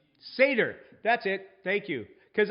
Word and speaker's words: Seder: For whom is a seat typically saved at a Siddur? I don't think I'm pronouncing that right. Seder.